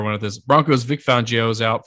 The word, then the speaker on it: Fangio: Broncos, Vic Fangio's out. Fangio, however you want to say it. Dolphins. Fangino. That's not how it's said.